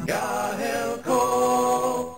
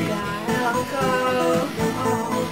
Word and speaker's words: Gaelco: Gaelco. That's how you pronounce it. They told you. Gaelco.